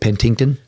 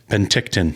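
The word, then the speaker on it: Penticton: Pentington. Pentictton.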